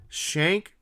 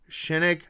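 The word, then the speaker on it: Schenck: honest with you guys shank shinik I've heard it pronounced both ways I'm gonna call him shank I don't know shinnok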